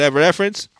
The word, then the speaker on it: Evanescence: like you saying you getting into, like an Evanescence.